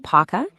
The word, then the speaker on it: PAUCA: It's pronounced PAUCA, and it stands for Pan-African United Community Advocacy.